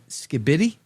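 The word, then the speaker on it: skibidi: What is skibbity? Skibbity. Skibbity is apparently being added to the Cambridge Dictionary. They have the pronunciation in there, I think.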